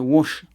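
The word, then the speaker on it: Łódź: Ça se prononce Lotz. Vous voyez, il y a écrit Lotz, mais c'est Wash.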